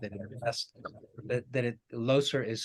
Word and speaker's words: Leuser: If not, having been unfamiliar with it in the past, that Loser is spelled Leuser.